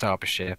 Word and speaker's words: Derbyshire: However you pronounce it. It's pronounced Derbyshire by everyone.